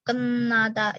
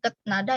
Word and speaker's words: 끝나다: Dibacanya 끝나다. Jadi bukan ketnada ya. Di sini jadi n dibacanya.